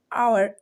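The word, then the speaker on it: hour: क्या करना है एच को कर देना है साइलेंट और हम पढ़ेंगे उसको ऑनर हनर आवर आवर and hospital honesty इस तरह से ठीक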